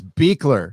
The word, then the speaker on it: Buechler: for those your last name is Buechler? It's Beekler.